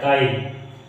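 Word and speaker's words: guide: देखिए you silent कब होता है, देखिए ये लिखा है गाइड, गाइड लिखा है तो यू नहीं पढ़ा गया, यू का कौन साउंड इसमें आ रहा, नहीं आ रहा, यू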